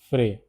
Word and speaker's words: frais: Pronunciation is frais.